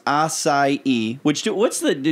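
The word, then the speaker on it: açaí: you sitting in on the pink couch it's pronounced assai which do what's the do you know where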